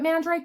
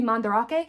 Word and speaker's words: Mandarake: It's spelled the same as Mandrake, so we called it Mandrake, but I think it's supposed to be Mandarake.